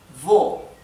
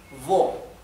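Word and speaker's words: wo: como la v esto es V y se pronuncia como la v del español siempre bien por ejemplo la palabra vo vo significa dónde vo pueden ver que la la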